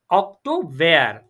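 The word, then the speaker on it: Oktober: আর অক্টোবরকে বলবো অক্টোভেয়ার, অক্টোভেয়ার, অক্টোভেয়ার। দেখেন September, অক্টোভেয়ার, November. জি জি বলেন বলেন। না ওইটা তো প্রোনাউন্সিয়েশনের নাম।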